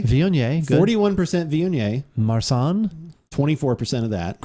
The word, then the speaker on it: Viognier: I'm not good at pronunciation. So I know the first one's like Viognier. Viognier, good.